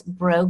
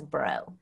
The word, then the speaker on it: Braud: say illiterate cajuns so so it's like the b-r-a-u-d yes translates as bro okay so um it's